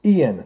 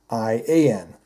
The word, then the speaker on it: Iain: it's the Ian Sinclair i a i n is the spelling if I'm not mistaken but it's pronounced Ian just like Ian the Ian Sinclair card